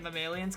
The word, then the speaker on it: Mammalians: Yeah, and then it says Return of the Mammalians, which I'm pronouncing it Mammalians because it sounds like aliens, and I think that's what they were going for. That's how you're supposed to say mammalian.